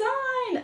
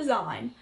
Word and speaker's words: zine: Oh, she's made a zine. A zine or zine, I don't know. People pronounce it differently, but I call it a zine. People call it a zine, and it annoys me, but...